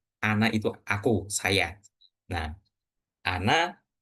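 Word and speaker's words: أنا: Nah, ana seperti yang sudah teman-teman pelajari itu cara bacanya ana ya ana aja bukan ana, bukan tapi ana aktaru. Jadi alif yang ada setelah huruf nun ini enggak perlu dibaca. Kemudian ee yang ini walakinna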